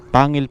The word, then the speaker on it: Pangil: Opo tapos po sa parking parking anong tamang pronunciation sa kanya Ma'am Pangil pa rin Pangil pa rin Pangil pa rin